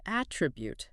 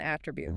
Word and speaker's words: attribute: Pay attention to the pronunciation here. As a noun, it's an at tribute, a characteristic. Like patience is an attribute, right? But as a verb, it's to attribute, meaning to give credit for a cause.